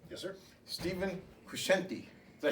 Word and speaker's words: Stephen Crescenti: Stephen Crescenti.